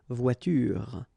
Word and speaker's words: voiture: The last thing that you will hear is this r, voiture, voiture. So it's not here, okay? So clearly you don't pronounce it here.